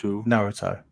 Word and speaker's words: Naruto: is u in Japanese so it's Naro Naro Naruto if you say it properly oh um I'll